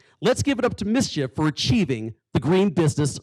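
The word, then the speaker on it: MISGIF: i love this acronym mischief m-i-s-g-i-f but it's pronounced mischief i was told before here they're a shining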